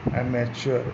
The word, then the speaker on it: amateur: ठीक है, एमेच्योर का क्या होगा, 7 नंबर बी, एमेच्योर, AMATEUR।